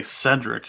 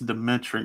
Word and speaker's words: Demetric: I always want to say Cedric. It's Demetric, yeah. So the other ones here in the 5th round.